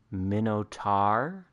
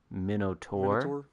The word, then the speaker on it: Minotaur: one guy was very very upset that i was saying minotaur rather than minnow tour yeah it was uh it was uh he was very upset about that although the fun part is when people get upset about like you saying mino instead of minnow or minnow instead of mino because everybody's on both sides of that fence like it's it's technically